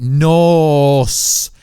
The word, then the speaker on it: Norse: So in Norse mythology, Norse, N-O-R-S-E, before you guys say I said it wrong, Norse mythology, the world serpent is actually one of Loki's children.